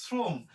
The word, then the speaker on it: শ্রম: এরপরে যেটা আছে শ্রম, শ্রম তালবশের সাথে রফালা থাকলে তালবশের উচ্চারণ ইংরেজি এস এর মতো হয়, শ্রম। তাহলে হবে কি? শ্রম, হর্ষ দিতে হবে শেষে, শ্রম।